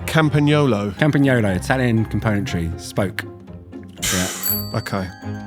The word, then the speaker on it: Campagnolo: I don't know how if I'm going to pronounce this right. Campagnolo. Campagnolo, Italian componentry, spoke.